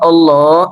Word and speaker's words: Allah: Karena dalam panjangnya a di situ seakan-akan menyimpan a yang lain. Jadi mad farku tuh bertemunya dua hamzah. Yang satu hamzah istifham, satu hamzah wasal dengan alif lam makrifat. Nah, karena bertemu dua hamzah ini akhirnya disatukan. Tandanya apa? A-nya dibaca panjang.